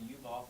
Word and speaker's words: Yuval: Give a shout out to Yuval from Israel, who's Hey.